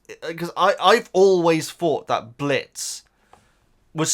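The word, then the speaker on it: Blitzø: I will say, this confuses me, guys, because I've always thought that Blitz was spelt with an O because he says the O is silent, much like Django and Jane.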